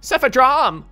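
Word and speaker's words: Cephadrome: it's actually pretty good i can't forget my cepha drum too i'm gonna need to bring him with me it's pronounced cephadrom he dropped something a crystal urchin blooper come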